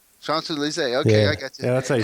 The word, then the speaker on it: Champs-Élysées: The Champs-Élysées. Champs-Élysées.